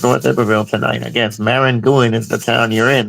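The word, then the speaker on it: Maringouin: Yeah, so I it's think that's how you Marangoon.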